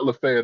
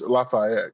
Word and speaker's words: Lafayette: It's uh it's not Lefet, it's Lafayette, correct?